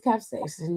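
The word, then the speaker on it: capsaicin: Um, I know it's it's it looks like capsason caps. It is capsason. You said it right the first time because I know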